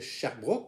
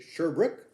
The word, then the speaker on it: Sherbrooke: dans sherbrooke ou sherbrooke y en a qui préfèrent dire sherbrooke mais en fait c'est sherbrooke parce que le nom vient d'un lord anglais britannique donc ça se dit qu'avec de la façon le prononcé de la façon anglais y sont dispo de